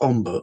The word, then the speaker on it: ombre: from a Spanish game, which we call Hombre, or it used to be pronounced Omber or Umber, and is referenced.